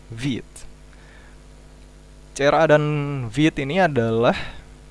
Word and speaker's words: Vite: Ini bukan Vite, tapi ini dari bahasa Perancis yang artinya fast. Jadi dibacanya Vite.